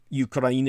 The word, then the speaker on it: Ukraine: border with neighboring ukraine ukraine is the correct pronunciation and the polish security